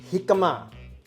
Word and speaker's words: jicama: using this called the jicama spelt j-i-c-a-m-a the j is pronounced with a h because it's a mexican name so this originated from